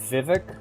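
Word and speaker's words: Vivec: You guys prefer Vivvec Vivic or do you guys have a different pronunciation? I go with Vivvec because that's what the voice acting does in this the um voices of Ardenfell mod does in this game.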